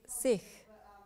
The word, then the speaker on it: Sikh: point one sik which is pronounced sik in Punjabi is a word which